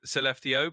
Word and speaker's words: Skellefteå: So Skellefteå, pronounced kind of like Skellefteå, is a town in northern Sweden.